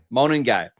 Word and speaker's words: Monangai: Please pronounce the last name for me again. Monangai.